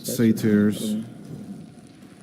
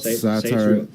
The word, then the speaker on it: satyrs: And in Hungarian we say satyr, but I believe in English we say satyrs. It's not it's not satire. It's not satire like the genre, right? It's a little different. No. It's with a Y.